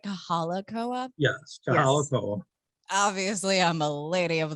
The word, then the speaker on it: Kahala Koa: Yes, Kahala Koa.